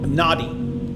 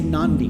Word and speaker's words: Nadi: But I kept hearing people say Nandi, Nandi, Nandi, Nandi. And I'm like, is this the same place? No, they put an N into the word just randomly.